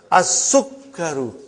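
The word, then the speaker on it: السكر: As-Sukkaru.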